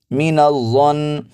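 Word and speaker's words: مِنَ الظَّنِّ: اس لفظ کو دیکھیے، میم زیر می، نون زبر ظنظ، مینظ، ظا زبر نون ظن، مین الظن۔ اب اس کو کچھ لوگ ایسے پڑھ دیتے ہیں مین الظن، ایسے نہیں پڑھنا، نون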